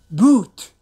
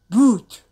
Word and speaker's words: boot: sound T sound but since this is the this the end of the word we don't actually pronounce it clearly very light why you can hear